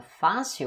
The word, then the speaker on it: fácil: un accent, par exemple fácil, on va dire fácil, c'est là la syllabe tonique sur les A.